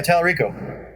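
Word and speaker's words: Tallarico: game composer yeah telerico is that how you pronounce it yeah talarico i've known that guy's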